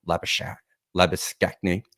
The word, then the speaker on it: Labuschagne: That's an Australian pronunciation of Labuschagne.